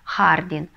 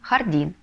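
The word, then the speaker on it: jardín: или хардин по-испански будет если мы напишем без ударения то как будто вы получите хардин а нам нужно хардин Кстати когда вы ставите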